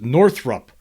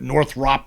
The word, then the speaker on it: Northrop: release more com content just FYI it's pronounced Northrup uh and he's talking about here is North I I I guess when I'm talking about northr I'm always calling it Northrop Grumman right it's actually Northrup Northrup Grumman so yeah